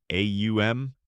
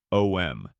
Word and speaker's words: om: The sounds are ah, oo, and m. When combined, they create the sacred syllable au m or om.